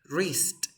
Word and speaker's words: wrist: Thumb, dedo, pulgar, wrist. Aquí no se pronuncia la W, es wrist.